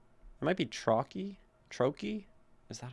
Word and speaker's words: trochee: It goes stressed, unstressed. Let me look up the pronunciation. Trochee. Okay. A foot consisting of one long or stressed syllable, followed by one unstressed syllable.